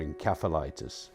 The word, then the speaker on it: encephalitis: It was called encephalitis, or encephalitis, some people pronounce it.